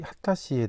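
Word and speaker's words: 秦: 본전에 보시고 있는 분이이 진씨이 하다 씨라고 하네요.이 진씨임을 알 수가 있습니다. 이제이 진씨 우리나라에는 진씨이죠.네 네. 하다시라고 발음을 합니다.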